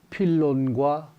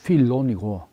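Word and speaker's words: Φίλων: 더 어 진행될 예정입니다 어 필론이라고 부르기도 하고 또 필로라고도 부르기도 하는데에 원이 헬라식 이름은 필론이고 이제 로마식 라틴어로 필로 또 영어로 필로라고 하는데에 원 발음은 이제 필로니 되겠습니다 그서 필론 유대교의 헬라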